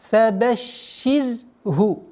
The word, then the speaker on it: فبشره: Ра здесь мягкая. Шин удваиваем. Фабаширху.